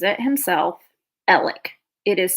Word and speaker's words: Alex: Alec or Alex so he pronounces it himself ellic it is spelled a-l-e-x like Alex I think it's just